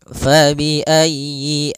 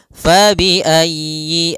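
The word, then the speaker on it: فبأي: Pada lafal fabi'ayyi ala, di sini usahakan huruf ya-nya ditekan. Fabi'ayyi ala, fabi'ayyi, ayyi. Kemudian y-nya pendek, jangan dipanjang, jangan yi-a, tapi langsung saja fabi'ayyi ala.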